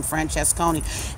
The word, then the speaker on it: Francesconi: When it comes to just straight out lacing the tables, it's Adam Francesconi. I'm just glad I finally learned how to pronounce the man's name.